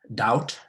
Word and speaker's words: doubt: And many of us, many people mispronounce those words because they tend to pronounce the B's, whereas they are not supposed to be pronounced.